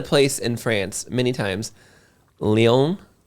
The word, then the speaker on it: Lyon: We've mentioned a place in France many times, Lyon. Leon? Yeah. Yeah. Well, I've been calling it Lions because it's spelled Lyon.